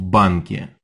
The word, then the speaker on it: банке: Я работаю в банке. Did you remember to add that yeah sound at the end of bank?